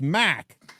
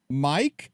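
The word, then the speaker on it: Mark: And he said, no, it's Mac. And I said, Mac? And he said, no, Mac. I went, Mike? He went, no, Mac, M-A-R-K, Mac.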